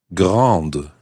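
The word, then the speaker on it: grande: gra becomes Grand and you pronounce the d because there's an e on the end ground so Anna how would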